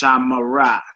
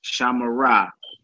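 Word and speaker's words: שָׁמְרָה: It's pronounced shamara, shamara, and it's pronounced shamaru, shamaru. Though the shiva occurs in the middle of a word, it is vocal.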